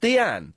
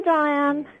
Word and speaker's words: Dian: And it's pronounced Deanne? It is. It is. My mother went to school with a French girl. Well, that's Diane without an E. No, I'm not a Diane. I don't answer to Diane.